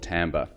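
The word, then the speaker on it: timbre: left over what's left is a thing called tambor and it is pronounced Tambor and I really love this definition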